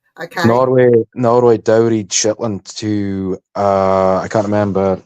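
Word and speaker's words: Shaetlan: Broad Shitland. Yeah. It's pronounced in dialect.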